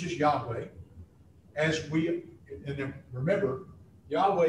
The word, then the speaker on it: Yahweh: Yahweh, and then remember, Yahweh is, that's how we pronounce it, because that's what we understand. The bottom line is that nobody knows how to pronounce it.